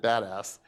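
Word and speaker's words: BDAS: this is a it's the abbreviation is be das and we like to pronounce it badass and you know you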